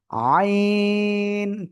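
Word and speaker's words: ع: এই গলার মাঝখান থেকে আপনার উচ্চারণ করতে হবে। আইন চার আলিফ টেনে পড়তে হবে।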